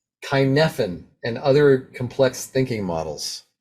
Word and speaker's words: Cynefin: Oh, okay, now, if I'm saying this word wrong, Kinefin and other complex thinking models. Did I say that right? Cynefin? Kinefin. Yeah. It's Welsh. It's like a weirdo word.